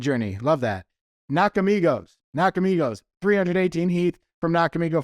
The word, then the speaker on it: Nakamigos: give you a hint it rhymes with box of Nemos thank you mid Journey love that knock Amigos nakamigos 318 Heath from knock